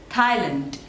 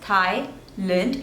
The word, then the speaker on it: Thailand: Switzerland Switzerland Scotland Scotland there are two syllables and the stress is on the first one Scott lent Scotland Scotland